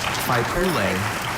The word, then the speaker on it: Faipule: to a council that forms the central political structure of a Faipule, village, may I have the district, or definition, please?